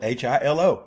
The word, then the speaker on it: Hilo: That's spelled H I L O.